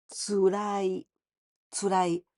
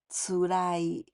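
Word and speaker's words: 辛い: つらい。 But with this kanji, here we don't pronounce 辛い. Because 辛い, this is spicy. But here the same kanji, but つらい.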